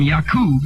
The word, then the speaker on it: Yakub: from black people and come from Yakub is the correct pronunciation, what does that say about Yakub and black people?